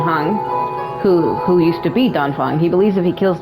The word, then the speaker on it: Dan Feng: Dan Feng or Dan Fang, however you want to say it, if you don't want to say it with the accent. Like Dan Fang, if you try to say it like a generic way.